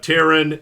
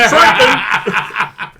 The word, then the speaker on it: Triton: Spitting Nails, Floods of Terran, and Triton. Triton. If you're gonna insult it, say it right. All right. Say it right, damn it! Floods of Triton!